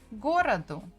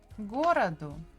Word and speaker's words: городу: If they are not stressed, we pronounce them as E or A. So городу. The stress falls on городу, on the first go.